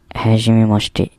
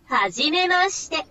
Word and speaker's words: はじめまして: هاجيمي ماشتي هاجيمي ماشتي. ها ده حرف الها. الشي لما تتحط عليها الشرطتين دول تتنطق جي ومي، وبعد كده هاجيمي ما. ده الما والشي والتي، يبقى هاجيمي ماشتي.